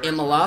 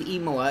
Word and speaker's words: Imola: we are here at Imola or in the law for some people but I believe Imola is the proper way to say it we are just moments